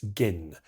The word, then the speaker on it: Gin: The Japanese title is essentially Miss Gin, pronounced with a hard G, not like the drink.